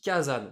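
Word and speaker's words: 火山: Kasan ou Kazan selon si Mon on casque arrive à le commence à plus prononcer avoir de ou pas. batterie. Non, non. Le mot volcan Je se reviens. dit Kazan.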